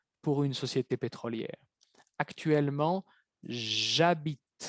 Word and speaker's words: j'habite: Cuidado la pronunciación, no van a decir je habite, je étudie. Es j'habite, j'étudie. Très important.